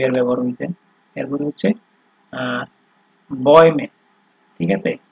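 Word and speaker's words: Bäume: ঠিক আছে, এটা যদি আপনার, আমি একটা জিনিস দেখাই দিই, এখানে যদি আপনার হচ্ছে এই umlaut না ব্যবহার হয়ে যদি আপনার হচ্ছে ওই umlaut ছাড়া এ যদি ইউজ হইতো, সেই ক্ষেত্রে সেটার উচ্চারণ হতে আপনার বাউমে। ঠিক আছে, মানে সরায় হইতো। তো এখানে যেহেতু umlaut হয়েছে, তো এটার উচ্চারণটা আপনার এ এর মতো হয়ে যাচ্ছে। ঠিক আছে, যেমন বয়মে। ঠিক আছে, তো বয়মে মানে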